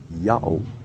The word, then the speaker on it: Ιαω: the slightest hesitation said this word is to be pronounced yahoo all right i can